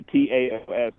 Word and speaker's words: Taos: Yeah, Taos, kind of just like how the Dow is spelled, but right.